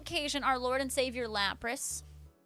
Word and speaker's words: Lapras: I think you're saying Lapras wrong. It's Lapras.